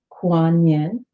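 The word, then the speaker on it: Kuan Yin: was no other choice kuan-yin pronounce Quan Yin or she who hears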